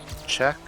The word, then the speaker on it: Czech: I was zooming oh is that why it's pronounced check is that first letter let see with a